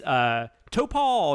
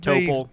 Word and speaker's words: Topol: Anyways, Topol, is it Topol? I think it has to be, right? It's either that or Topol. I think Topol.